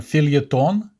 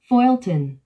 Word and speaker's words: feuilleton: word in English, although it looks like it was borrowed from French. And I'll let Google to pronounce that word because I can't. Here we go. Feuilleton.